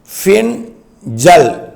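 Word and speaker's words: Fengal: பின்சல் புயல் அது வந்து fe ஐ என் ஜே ஏ எல் இப்படித்தான் உச்சரிக்கணும் பின் ஜல் பின்சல் புயலாக உருவெடுத்து அது டெல்டா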